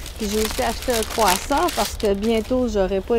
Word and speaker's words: кроасан: Puis j'ai aussi acheté un croissant parce que bientôt, j'aurai pas les bons croissants et les bons rouleaux au raisin de Dobrev. C'est des croissants au beurre. Et le mot en bulgare pour croissant, c'est croissant, mais j'ai demandé Edin croissant parce